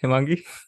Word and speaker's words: Hemangi: But today with me is Hemangi Dhir. Am I pronouncing your name correct, Hemangi? Yeah, that's exactly how it's pronounced.